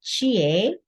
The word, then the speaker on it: Chie: Hello, my name is Chie. And if you want to remember the way to pronounce my name, think of a Canadian doing Tai Chi. Because Canadians go A, well, there we go.